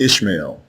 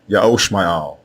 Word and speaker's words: Ishmael: means yao is exalted the correct way to say the name of abraham's firstborn son is not ishmael it is yahoo al ya'oshma'al and it means ya'll